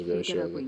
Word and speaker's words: Ryoshu: And she pronounced her Yoshihide, which is her real name, as Ryoshu. Yeah, that's how you say it.